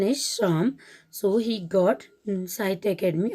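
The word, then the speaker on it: Psalms: of the spelling is psa lms and the pronunciation is some so he got inside academy award for his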